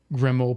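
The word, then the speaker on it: Grimmauld: But what I'm saying is it's supposed to sound like grim old place because that's what it is.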